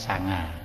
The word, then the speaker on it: sangha: Nah, pengucapan Jawa itu sering ya ee terjadi istilahnya peluluhan fonem. Jadi sangha. Jadi orang ngucapkannya sanga ya dikira itu sembilan begitu kan ya dikira ya.